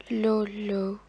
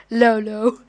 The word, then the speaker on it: Lolo: Because I am 14, aka Lolo. If you don't know how to pronounce my name, it's spelled LOLO. Most of the people say, like, Lolo, the word LOL comes in your name.